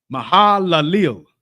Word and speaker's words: Mahalalel: Just say it the way it's read. This is English now. Come. Don't try to pronounce it in Hebrew. Yeah, in English, just the way it's read. Mahalalel.